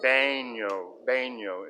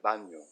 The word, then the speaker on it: baño: And I was saying baño instead of baño. Bathroom in Spanish is baño. Baño, not baño, as I was mispronouncing it in the days of my youth.